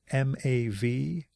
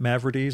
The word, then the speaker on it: Mavrides: Mavrides is Mavrides. I always pronounced it Mavrides until the moment before we started recording when I asked him how to pronounce it. So yeah, Paul Mavrides.